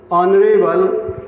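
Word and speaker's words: honourable: अब देखिए, our, honest, historical, ऑनरेबल, एयर, सभी में एच साइलेंट रहता है। ठीक है, एच साइलेंट रहेगा और इन शब्दों का उच्चारण आ से शुरू होता है जो स्वर ध्वनि अर्थात वावेल साउंड देते हैं।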